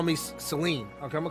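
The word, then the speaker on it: Cyllene: does somebody let me know who this is saline that's how you say it assuming the individual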